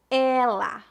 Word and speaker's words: ela: a diferença agora vamos praticar as palavras ela com e aberto e ele com e fechado repita depois de mim ela ela ele ele excelente